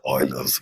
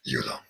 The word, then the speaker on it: Euler: last set of formulas the Euler's method pronounced as eulers not Eula let me show you